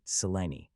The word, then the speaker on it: Selene: Selene, am I right, Selene? Right, correctly pronounced.